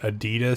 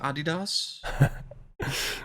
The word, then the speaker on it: Adidas: did you like that Adidas skin I heard people were complaining about that skin like the uh it's pronounced Adidas the Miles Morales one